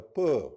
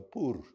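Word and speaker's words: pur: they cast the lot the peur or the poer whatever way you want to pronounce. If you English you most probably say peur.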